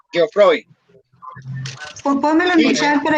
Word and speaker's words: Geoffroy: No, es de uno que Karencita estaba diciendo Geoffroy, pero es como es francés, entonces la J, perdón, la G se pronuncia como Geoffroy.